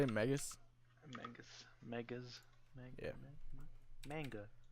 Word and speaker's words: Megas: I don't know if I can pronounce this, so I'll just spell it out. MEGAS. Megas XLR. Yeah, is that how you say it? Megas? Megas.